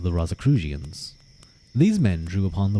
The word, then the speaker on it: Rosicrucian: Pronunciation. Rosicrucian.